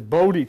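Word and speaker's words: Bodhi: stable at the palace wandered and found this bod tree you pronounce as b o d h i in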